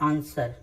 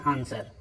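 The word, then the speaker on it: answer: आंसर आप बोलते हैं क्या होता है, आंसर। ठीक है, डब्ल्यू इसमें क्या हो रहा है, साइलेंट। आंसर आप इसे नहीं कहते हैं, क्या कहते हैं, आंसर।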